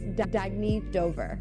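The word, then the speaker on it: Dagne Dover: Oh, it's pronounced Dagny Dover.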